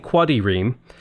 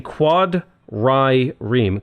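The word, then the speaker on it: quadrireme: how I'm saying it I'm not saying Quoddy ream like I'm saying quad Rai Reem quad quad Ram quad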